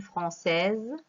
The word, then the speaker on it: française: Alors, un français, le féminin, une française. On a prononcé Z parce que S se trouve entre deux voyelles, le I et le E.